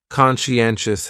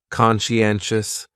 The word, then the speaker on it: conscientious: what's going on there so conscientious has four syllables and the stress is on that third syllable n n conscientious conscientious that second syllable is what really confuses people because that PSI almost sounds like you're saying she conscientious conscientious someone who is conscientious just